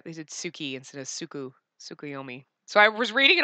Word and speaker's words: Tsukuyomi: Tsukuyami. It says Tsukiyomi. They typed his name wrong. Yeah, they did Suki instead of Tsukuyomi.